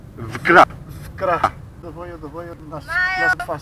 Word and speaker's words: Wkra: Vkra.